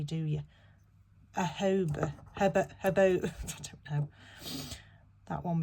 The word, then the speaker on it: jojoba: A jojoba, I don't know. That one beginning with a J, jojoba oil. I never know how to say it. You don't pronounce the J, I know that.